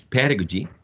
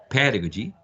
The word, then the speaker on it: pedagogy: you will have a an idea about the pronunciation of this one which is pedagogy pedagogy pedagogy and seven two pedagogical pedagogical there are